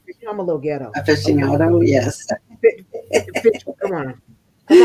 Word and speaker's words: aficionado: Finiciato. You're right. Come on, you guys, help me out. I'm not Aficionado. I'm a little ghetto. Okay. Aficionado. Yes. Fish, come on. Come on. Aficionado.